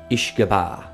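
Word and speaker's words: uisce beatha: country's version of Gaelic, both pronouncing Ishgabah to be the water of life.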